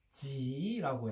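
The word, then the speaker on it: 纪: 그리고 이제 중국 발음으로는 기읍 발음, 키읔 발음 못한다고 그랬지. 중국 사람들, 현대 중국인들. 제 발음으로 가서 지라고 해.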